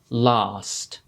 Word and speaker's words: last: like american english so how is it we know when to use this long a sound like in the word last well if the letter a is followed by a sound that makes the s m sound then normally we'll use that long a sound that's why last has it because after the a